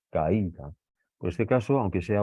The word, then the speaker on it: caída: Caída. Por este caso, aunque sea una A y una I, que sería vocal abierta más vocal cerrada, las tenemos que separar. Caída. Esta es la sílaba tónica, digamos, ¿no?